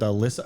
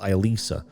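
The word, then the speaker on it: Alisa: The night I was dining with Masha, Sasha, and Alyssa. Her name hasn't changed. What? There was a huge bowl. No, it's pronounced different. It's pronounced Elisa.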